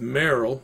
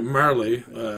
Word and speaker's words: Marle: saving edition Chrono Trigger start out with Meryl or sorry Marlee keep saving Merrill for some reason that's how I say her name knows incorrect needs okay Marley